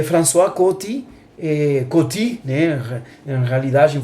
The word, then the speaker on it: François Coty: A primeira amostra é François Coty, assim se pronuncia, François Coty.